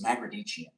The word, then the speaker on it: Magrdichian: It's Mardichian, but that's debatable. A lot of people say it different ways.